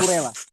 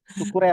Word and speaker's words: Cucurella: Karena si Cucurella, ya, gimana bacanya? Cucurella. Kukurela. Kukurela.